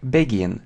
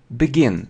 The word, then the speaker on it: begin: Многие произносят как begin, но это неверно. Смотрите, произносится как be, begin, begin. Об этом как бы многие не знают.